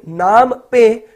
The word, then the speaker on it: Phnom Penh: CLMV business conclave इन नाम पे Cambodia. Cambodia की राजधानी क्या है, तो कंबोडिया की राजधानी PHNOM PENH है। तो इसको क्या बोलते हैं, तो पी साइलेंट है तो नाम पे बोलते हैं।